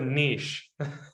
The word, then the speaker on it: niche: We go with niche. That's how it's pronounced.